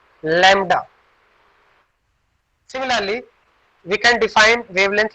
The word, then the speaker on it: lambda: This is pronunciated as lambda. This is pronunciated as lambda.